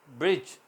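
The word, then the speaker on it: bridge: जज आएगा इस टाइम ब्रिज लिखने में बी आर आई दी जी आई है ब्रिज मगर बोलने में दी साइलेंट है गरज की ना तो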